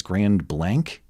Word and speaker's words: Grand Blanc: I was informed by email today that it's Grand Blanc.